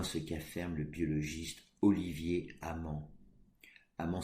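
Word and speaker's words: Hamant: C'est du moins ce qu'affirme le biologiste Olivier Amand. Amand s'écrit H-A-M-A-N-T, qui nomme ces rééquilibrages des déséquilibres naturels des fluctuations.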